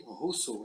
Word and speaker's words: Rousseau: Mas se lê Rousseau, é a pronúncia em francês.